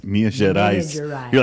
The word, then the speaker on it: Minas Gerais: Minas Gerais in that area. Yeah. And I was talking about the cheese. I like the way you pronounce Minas Gerais.